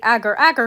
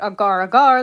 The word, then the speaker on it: Agar Agar: Aar cookie or technically Agar Agar Cookie as I'm going to be calling her. I don't care that canonically they pronounce it Agar Aagar. That's not how you pronounce the name of the ingredient and anyone who wants